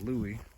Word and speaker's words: Lewis: he is right there says lewis hales but i've heard people pronounce it louie he was a private